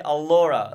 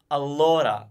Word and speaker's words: allora: lot yeah I guess you would say allora like if you and let's forget the are let's assume that you've got the are sorted but if you said a Laura a Laura with that all down your throat it doesn't sound he told it now